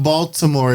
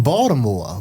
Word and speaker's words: Baltimore: it right so people don't know you from baltimore if you don't say it right and so